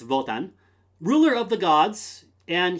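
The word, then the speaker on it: Wotan: old Norse but uh in German it's votan ruler of the Gods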